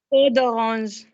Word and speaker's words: peau d'orange: Pew the orange. Doctor, peau d'orange.